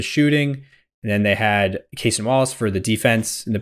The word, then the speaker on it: Cason Wallace: If he just is like, I'm going to put I'm going to start Carson Wallace instead of Alex Caruso. I want his energy off the bench. Cason Wallace.